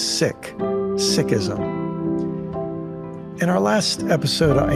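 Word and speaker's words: Sikhism: name is Valerie core many people pronounce the name of her religion as seism but Valerie taught me that its proper pronunciation is sick sism in our last episode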